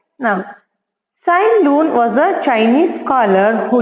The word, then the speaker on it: Tsai Lun: Tsai Lun. Here T is silent children. You should not spell T. Tsai Lun.